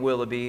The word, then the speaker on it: VVilloughby: So if people go on to look for you guys, it's spelled with 2 capital V's instead of a W. So what was the reasoning with that again? Well, so we decided on the name Willoughby.